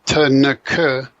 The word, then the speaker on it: Tanakh: And Tanakh is an acrostic referring to the three traditional divisions of the Old Testament, right? Torah, Nevi'im, and Ketubim. And so Tanakh ends up just being pronounced as Tanakh.